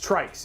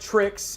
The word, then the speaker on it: TRYX: It's Trikes. It's not Trixs. It's not Trix. It's Trikes.